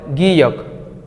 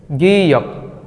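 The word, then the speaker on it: 기역: এই বর্ণটিকে কোরিয়ানরা বলে গিয়ক গিয়ক গিয়ক কত বড় লেখা তাই না এইটার মেইন উচ্চারণ হবে গ মেইন উচ্চারণ হবে গ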